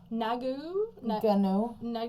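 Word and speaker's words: Ngannou: pronounce his last name, Nagu. I think the N is silent, so it'll be Gnu.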